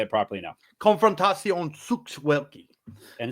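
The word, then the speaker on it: Konfrontacja Sztuk Walki: Konfrontacja Sukt Walki.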